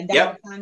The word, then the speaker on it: Dandapani: Yeah, Dandapani.